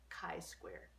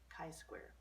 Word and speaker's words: chi-square: the symbol for chi-square is that and it's pronounced with a hard case ound chi-square chi-square there are actually two high score tests the